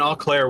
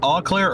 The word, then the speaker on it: Eau Claire: Is it Eau Claire or Eau Claire? Oh, Claire. AU, right? Well, it's EAU, but basically you can just pronounce it with a hard O.